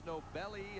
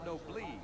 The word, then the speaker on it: Nobly: One says Nobly, one says Nobelly, and one says Nobily or Nobilly. So we understand it is Nobly.